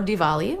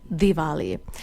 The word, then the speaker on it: Diwali: pronounciation of this celebration Dali The Hard D is actually something we want to avoid whereas the like